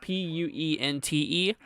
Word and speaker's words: Puente: Pronounced Puente. That's how you pronounce it.